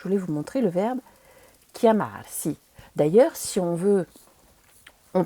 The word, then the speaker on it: chiamarsi: Donc le premier verbe en général qu'on apprend, c'est le verbe s'appeler, qui se dit chiamarsi. Attention, le CH, ça fait bien que.